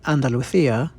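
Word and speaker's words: Andalucía: with southern Spain Andalusia well that's how someone speaking Latin American Spanish like me would pronounce it Andalucia in Spain I always feel really awkward when I try to do the actual Spanish accent but it seems the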